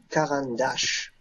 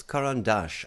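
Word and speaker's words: Caran d'Ache: on the Caran, but it's Caran dash. I always say dash. Dash is okay. Okay. Yeah, dash. Brian, you want to try? Let's good. Have a little language class here. How do you say the name of this company, Brian? I would have said it Caran dash. But it's more like a Caran dash with a little accent.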